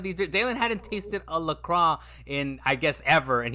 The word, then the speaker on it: LaCroix: in French, I believe it's French, it is pronounced LaCroix, right? Mm-hmm. And the creator of the drink was like, "Nah, it's LaCroix."